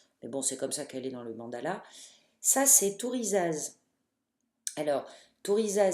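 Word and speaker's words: Thurisaz: Ça, c'est Tourizaz. Alors, Tourizaz s'écrit T-H-U.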